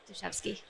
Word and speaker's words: Dashevsky: Dashevsky.